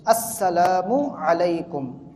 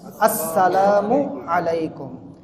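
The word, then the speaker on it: السلام عليكم: আদায় হয় না এজন্য আমাদেরকে বলতে হবে সুস্পষ্টভাবে আসসালামু আলাইকুম কি বলবো আমরা আসসালামু আলাইকুম আসসালামু আলাইকুম হ্যাঁ এই ধরনের যে মানে শর্টকাটের যে সালামগুলো এগুলোতে বানানো ঠিক থাকে না উচ্চারণ ঠিক থাকে না এবং এগুলোতে অর্থও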